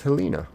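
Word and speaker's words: Helena: Bob says it's pronounced Helina.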